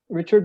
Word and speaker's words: Richard: name is Richard uh it's like uh Richard but pronounced French but Richard Works uh